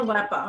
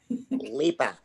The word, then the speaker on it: Leppa: Am I saying it correctly? Lipa or Leppa? I'm sorry. Loggy. Lipa.